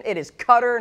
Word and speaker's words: Qatar: know I always am not sure how to pronounce Qatar Qatar Qatar Qatar I never really know Brian is saying it's Qatar Brian I'm going to listen to you I apologize thank you for that correction it is Qatar or